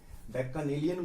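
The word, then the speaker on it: Bacchanalian: तो अमिताभ बच्चन जी से हम इस बच्चन नेलियन, इसका उच्चारण मैंने बदल दिया, बैक्कानेलियन बोलते हैं, इसे बच्चन नेलियन पढ़ लीजिए आप।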